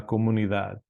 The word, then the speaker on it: comunidad: la comuni that okay again th sound La comunidad feminine so there's quite